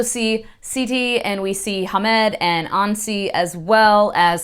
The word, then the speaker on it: Hamed: introduced to Hamed, and I kept calling him Hamad, I think, in my last video where I was talking about Haunting of Tramcar 015, but it's definitely Hamed, but there's an E, not an A.